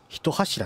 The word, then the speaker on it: 一柱: 地獄の三振の一柱に一柱って読むんや勉強になり